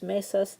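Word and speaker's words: mesas: to add s's L mesus the tables the stress is still on the first syllable okay but we're not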